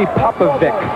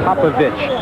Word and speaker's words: Popovic: Don says, call me Popovic. Now that I'm in America, you don't have to pronounce it Popovich anymore.